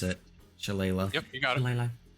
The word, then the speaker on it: shillelagh: And I'm going to do Shillelagh, or however you pronounce it. Shillelagh.